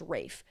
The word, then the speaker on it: Ralph: I found out recently that it's not Ralph Fiennes, it's pronounced Rafe, which is a crime.